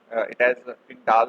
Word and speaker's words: Tyndall: Some people pronounce it as Tyndall effect, some people pronounce it as Tyndall effect. So it is up to you.